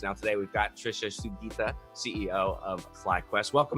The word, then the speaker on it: Sugita: playoffs and beyond now today we've got trisha sugita ceo of flyquest welcome how you doing today